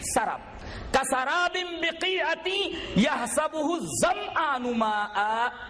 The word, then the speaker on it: سراب: MIRAGE، میراج میں سراب، اس کو بعض لوگ سراب پڑھتے، غلط ہے وہ. قرآن حکیم نے جو تلفظ بیان کیا، جو پروننسیشن وہی صحیح پروننسیشن ہے. سراب، شراب نہیں، سراب.